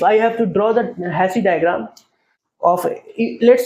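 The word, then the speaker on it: Hasse: is represented by something called as Hass diagram or hassy diagram that's what I used to pronounce hassy diagram in the hassy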